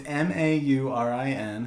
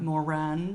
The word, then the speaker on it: Maurin: It's Maurin. How do you say that? Maurin.